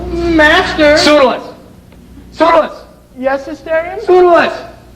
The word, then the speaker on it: Pseudolus: Pseudolus! Pronounced perfectly. You know, a lot of people say Pseudolus, and I hate it.